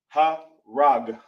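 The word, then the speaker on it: הרג: Ha rag. As simple as that. So now if we're going over a word that's Kill in a Tanakh, when you come across it, it'll be harag.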